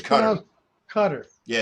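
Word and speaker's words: Qatar: it one of those countries it's kind of cutters yeah it's encounter yeah Park cutter whatever it's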